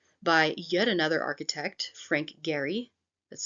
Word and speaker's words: Gehry: here's an example by yet another architect Frank Gary that's spelled g-e-h-r-y Frank Gary um and it is